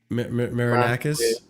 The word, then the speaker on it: Marinakis: But to a certain extent, I do feel that it's how do you pronounce his last name? The owner, Marinakis. Marinakis, yeah. Marinakis.